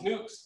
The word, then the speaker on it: nuc: Now you might hear this pronounced very different depending on where you're from. I typically call these nucs.